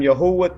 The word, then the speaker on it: Yahuah: What you see to the left, I am Yahuah. That is my name. That is the correct way to say the Creator's name.